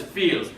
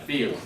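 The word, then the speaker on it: viel: alation accent but so the real word is feel VI e l pronounced with a n feel that's much yeah that's like much a lot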